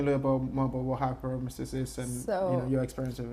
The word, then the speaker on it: hyperemesis: How do you pronounce that? Hyperemesis. Hyperemesis.